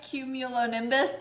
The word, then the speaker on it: Cumulonimbus: Did I pronounce that right? Cumulonimbus?